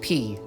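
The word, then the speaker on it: 피: But fun fact, blood in Korean is pronounced P, so the P organ is literally a blood organ.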